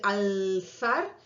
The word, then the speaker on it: alzar: Y en el caso de alzar, esa L también la pronuncio entre los dientes.